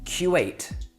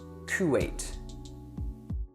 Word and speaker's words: Kuwait: The first letter of Kuwait is a K in both English and Arabic.